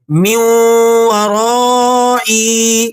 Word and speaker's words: مِن وَرَائِي: خراب ہو جاتا ہے۔ درست طریقہ یہ ہے کہ نون کی آواز نکالے بغیر میم کو سیدھا واو مشدد کے ساتھ ملایا جائے۔ کس طرح سے؟ اب ذرا تلفظ سنیں۔ من ورائی۔ اب ذرا آیت مبارکہ